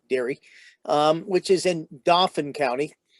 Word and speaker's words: Dauphin: um which is in dauphin county i know the french pronunciation is the dauphine it's the king but but here we say dauphin and then he begins